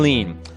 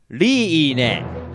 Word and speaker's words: Leene: sure if I want to either her name is spelled L e e and E I'm sure we've all always called her Queen lean but check out the original Japanese Lea with a dash and a net leaning leaning what the heck and the translator saw